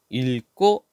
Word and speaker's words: 읽고: 리얼 기억인데 차이가 뭐냐 자 리얼 기역 같은 경우에는 앞에 걸로 발음을 하는 뒤에 걸로 발음을 하는데 언제 뒤에 기억으로 시작하는 말 올때 뒤에 기억으로 시작하는 말이 올 때는요 앞에를 리을로 읽어요 그래서 읽고 이렇게 된다 알겠죠 자 여기 뒤에